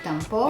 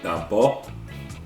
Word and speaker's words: tampo: It's a big tempo. Yeah. Excuse me. Tampo. I got to say it correctly.